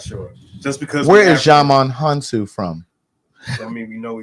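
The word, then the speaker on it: Djimon Hounsou: Jaman Hansu.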